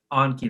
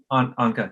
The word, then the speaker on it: Anka: I was telling Anki, that's how you pronounce her name? Okay. Anka, yeah, Anka.